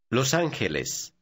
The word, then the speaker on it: Los Ángeles: Notice the combination of letters G-E is pronounced K. Repeat number 6, looking at that part of it. Los Angeles.